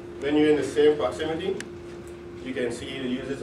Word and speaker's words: ProxyMeety: it's called proximity sounds like proximity but it's proxy spelled like sence spell proxy and me then you meet people so it's proxy you